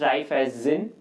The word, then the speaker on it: Raiffeisen: Okay, so it is pronounced Raiffeisen. It's a German word, or Raiffeisen.